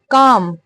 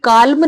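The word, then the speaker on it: calm: gate की past form काम यह काल्म नहीं है काम है इसमें जो एल होता है ना ये साइलेंट होता है काम का मतलब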